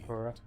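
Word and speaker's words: Purah: Yeah, I've pronounced it as Pura as well, but it's Pura.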